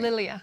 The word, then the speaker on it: Lilia: Well, the horrific story that you tell about Hector coming here and later his wife, and pronounce her name for me. Lilia.